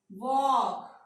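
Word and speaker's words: walk: बाद के और एम, अगर ये 3 लेटर्स आते हैं इनसे पहले एल आ जाता है तो क्या है, एल साइलेंट हो जाएगा। काफ, एल साइलेंट हो गया। Half, वॉक, Fock, टॉक, palm, काम, बाम। अगेन देखें, जे जो है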